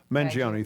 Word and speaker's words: Mangione: many times have we seen, how do you pronounce United Luigi's last Healthcare. name? What's his, whatever his name is? Mangione.